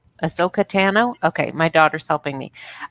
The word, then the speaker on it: Ahsoka Tano: Ahsoka Tano? Ahsoka Tano?